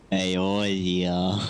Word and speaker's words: Eorzea: pronounce that, Cody? Eorzea.